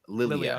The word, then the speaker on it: Lilia: thinks he hears I it's not Laya so how do you say it Lilia excuse me um he